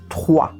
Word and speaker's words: trois: O 3, o R, não sai da língua, o R vem da garganta. Trois, trois. A gente sente na garganta a vibração. O OI, em francês a gente diz OA, e o S não é pronunciado, então a gente vai dizer trois.